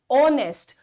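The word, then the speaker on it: honest: pronounce कर रहे हैं वी are calling it ऑनेस्ट तो ओ का साउंड आ रहा है शाम के 4:00 बज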